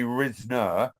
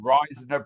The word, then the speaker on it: Risner: your name down right I write my down phonetically as it should be said not as it is so I often spell r i z n e r so then they say Risner otherwise they go ryer priser they come up with